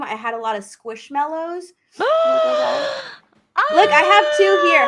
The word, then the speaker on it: Squishmallows: you say it squishmallows squish Mallows Mallows like a marshmallow squishmallow it sounds so